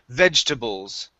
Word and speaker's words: vegetables: we say vegetables okay we take out that second e so instead of saying vegetables we say veg bowls okay so it's vegetables vegetables good one more